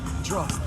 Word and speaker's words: Drost: Drost, like rhymes with frost.